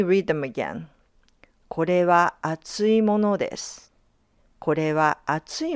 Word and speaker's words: 厚い: video, but now listen carefully to how the pronunciation changes. When you're talking about something thick, you say kore wa atsui mono desu.